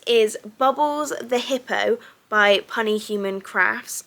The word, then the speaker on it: Punny Human Crafts: So this is Bubbles the Hippo by Punny Human Crafts. I think that's how you say it, not Puny Human Crafts. I think it's Punny Human Crafts.